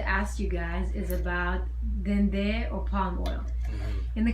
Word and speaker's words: dendê: So dendê, epo, is a lot of energy in that, and a lot of I'll try to explain. So dendê, that's how you say it in Brazil, correct? Dendê.